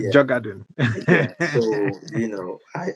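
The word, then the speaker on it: Djurgården: Honestly, yeah, the the D the D is almost silent. It's you know, Jugad.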